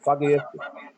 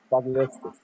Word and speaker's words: phagocytic: The antibodies and The antibiotic in the phagocytic. It's PH5. It's phagocytic or okay, phagocytic. Phagocytic.